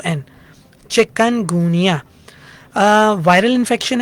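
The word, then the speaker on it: Chikungunya: इसका चिकन से कोई ताल्लुक नहीं है इसकी स्पेलिंग है सी एच आई के यू N chicken गुनिया viral infection है जिस तरह डेंगी वायरल इंफेक्शन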